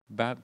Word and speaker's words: Barnabas: Barnabas.